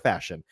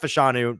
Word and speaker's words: Fashanu: gotta remember it's just it's like fashion um fashion not fashanu not fashanu fashion um there are other